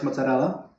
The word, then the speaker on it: mozzarella: Because I was looking for raw milk to make fresh mozzarella. And ooh, did you hear the pronunciation on that bad boy? Mozzarella. It's the tongue roll. The It does it for you.